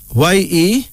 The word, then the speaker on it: Yetunde: Then there's Zarina, Z-A-R-I-N-A, pronounced Zarina, a Swahili female name meaning golden. Yetunde, Y-E-T-U-N-D-E, Yetunde, a Yoruba of Nigeria female name meaning mother comes back.